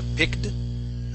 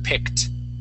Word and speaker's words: picked: Okay, you would actually pronounce the this with a D ending, saying picked, but we want a T ending. Okay, the word would be picked.